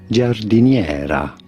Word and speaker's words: giardiniera: In Italy, this is said as giardiniera.